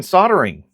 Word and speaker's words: soldering: Then you get to watch me learn soldering. At least I remember to pronounce it without the L this time.